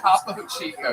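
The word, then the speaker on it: Topo Chico: Top Chico. Yes, that is exactly how that's pronounced.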